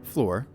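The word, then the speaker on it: Floor: level the lead singer Flor pronounced like you uh what you are standing on uh had only been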